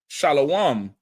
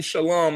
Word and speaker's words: shalom: The white man, he says shalom with the O, right? And fake Israelites say what? Shalawam. Because when you look at the shalom in the Hebrew, it's spelled sha, la, wah, and the ma. The wa and the ma. The the the la and the the wah disconnected. So it's shalom like law like you would say shalom